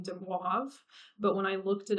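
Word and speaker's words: de Moivre: wavers Dew theorem uh this is a French name and um because of the order of um the letters in there it's a little bit hard for Americans to pronounce um so what I remember from college is my professor saying de wav but when I looked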